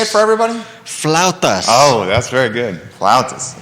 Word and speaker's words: flautas: It's Flautas. Can you say it for everybody? Flautas.